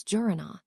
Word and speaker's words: Jiranaa: It's Jurana, the secretary corrected. Oh, got it, Jurana.